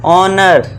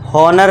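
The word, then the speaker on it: honour: ऑनर। हॉनर नहीं एच को silent कर देना है। ओ से पढ़ना है। एच को भूल जाओ। समझ लो एच है नहीं।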